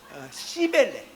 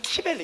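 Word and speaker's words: Cybele: 그러니까 여러분 이게 발음을 좀 잘하셔야 돼요. 이게 시벨레 그래서 너무 액센트를 앞에 두시면 시벨레 그러서 아셔 가지고 시벨레 이서 약간 뒤주 이게 혹은 시벨레 아 키벨레라고 발음합니다. 키벨 시벨레나 거기 키벨레 이렇게 발음합니다.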